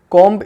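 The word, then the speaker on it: comb: कॉम्ब, पर actual में B sound, जो बी वाला साउंड है वो साइलेंट रहता है, इसको बोला गया जाता है कॉम, सिर्फ कॉम बोला जाता है।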